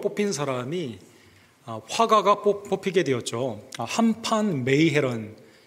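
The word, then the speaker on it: Han van Meegeren: 한판 메이헤런, 이 더치 발음이기 때문에 이렇게 발음을 그대로 보게 되면 한판 메이헤런이라는 이 화가가 뽑히게 되었습니다.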